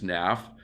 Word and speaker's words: Naf: the word Naf well Naf isn't a real word but Naf n a f when you say it fast and you pronounce that it sounds like and a half so when you say